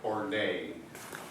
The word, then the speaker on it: ordet: Is it ordet or orday, Mr. Norwegian? Ordet.